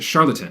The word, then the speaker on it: Charlottetown: Capital and largest city is Charlottetown. Sounds like the word charlatan. Yeah, I'm not sure if I'm actually pronouncing that right, but that's how I grew up pronouncing it.